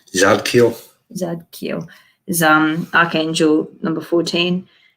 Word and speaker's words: Zadkiel: Zadkiel.